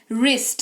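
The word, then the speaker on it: wrist: वो शब्द शुरू ही डब्ल्यू से हो रहा है और उसके ठीक बाद आर आ रहा है तो डब्ल्यू का उच्चारण नहीं किया जाएगा। जैसे कि डब्ल्यू आर आई एस टी वरिष्ठ नहीं रिष्ट पढ़ेंगे। रिस्ट है ना कलाई जिसको कहते हैं।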